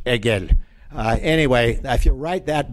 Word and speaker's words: Hegel: You can't do the H. Hegel.